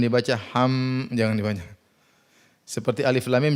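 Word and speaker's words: الم: HAM Jangan dibaca seperti Alif Lam Mim Jangan dibaca alam tapi Alif Lam Mim Alif Lam Mim HAM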